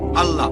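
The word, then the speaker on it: Allah: এ এল এ এইচ তারা বলে এলা আমরা বলি আল্লাহ স্কুলে থাকতে আমি শিখেছিলাম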